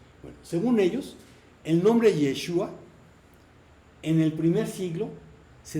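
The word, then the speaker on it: ישוע: Porque al parecer los galileos no pronunciaban una letra que se llama Ain al final de la palabra, que es como acaba Yeshua. Y quizás por ello se comenzó a escribir el nombre según dicha pronunciación. Entonces quedaría Yeshu, pero en hebreo moderno se pronuncia con A al final, Yeshua.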